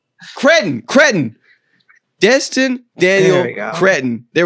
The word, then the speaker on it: Cretton: Destin Daniel Cree- What What How do you pronounce his last name? I Cretton Cretton Destin Daniel Cretton.